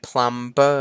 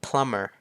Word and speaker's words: plumber: มา คือ plumber plumber ก็ แทน ที่ จะ อ่าน เป็น plumber ใช่ ม มัน อ่าน ว่า plumber ไป เลย นะ ครับ ช่าง ประปา